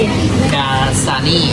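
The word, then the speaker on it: Dasani: กัมพูชา นะ ทุก คน อ่าน ว่า อะไร พี่ ดาซานี ดาซานี เป็น ดาซานี นี่ อ้า เดี๋ยว ฉัน จะ ซื้อ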